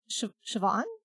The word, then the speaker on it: Siobhan: and then when you find out like uh Siobhan is a name that's like S I O B H A H N and I'm like oh that's Yeah. And I'm just like that's Siobhan.